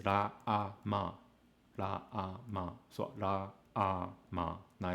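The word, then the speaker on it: राम: So this is not Rama, because there's a line there that represents the utterance of a or a. So it's Rama, Rama. It's Ra-a-ma, Ra-a-ma.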